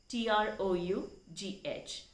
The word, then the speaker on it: trough: word but very useful word and that is trough t-r-o-u-g-h that should be pronounced as trough it is a noun the